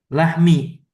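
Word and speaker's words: لحم: Lahmi. Oh lahmi. Di mana panci daging? Lahmi daging ya. Lahm daging. Iya. Kenapa dia kasrah? Kenapa kita bacanya lahmi? Mimnya di kasrah karena dia menjadi ee li.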